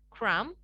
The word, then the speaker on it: crumb: Oke, di sini pada kata-kata di bawah ini, huruf B yang ada di akhir katanya harus dihilangkan. Dalam artian nggak perlu kita ucapkan, ya. Jadi kita ucapkan kata-kata ini seperti berikut. Climb, come, calm, lamb, crumb, and dumb.